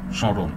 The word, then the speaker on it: স্মরণ: মফলের ক্ষেত্রেও এই অনেক অনেকটা এই কী রকম, শুরুতে যখন থাকে যেমন স্মরণ তখন কিন্তু আপনার অনুনাসিক হয়, সব শুরুতে খানিকটা অনুনাসিক হয়, ময়ের উচ্চারণটা ওইভাবে হয় না, কিন্তু মাঝে কিংবা শেষে